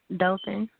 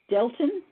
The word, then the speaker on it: Dothan: Dothan. Delton? Mhm. Some people pronounce it Dothan.